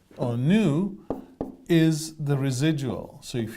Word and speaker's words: nu: it a neat v it's actually Greek letter nu and we sometimes spell it this way new so if you want to be educated say new but it's totally fine to call it V because it looks like a V and V or new